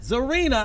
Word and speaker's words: Czarina: My name is pronounced Czarina. Czarina. I knew the C was the silent. C is silent.